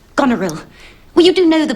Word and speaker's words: Goneril: uh the point is that mary's character is pronounced goneril well you do know the play mr steele